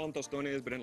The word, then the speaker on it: tostones: And these are some tostones.